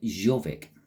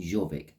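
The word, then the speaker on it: Jorvik: Now, the Vikings used to pronounce their Y's like a J.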